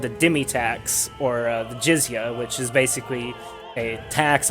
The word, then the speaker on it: jizya: It's called the jizya. It's spelled, I believe, Jizyah.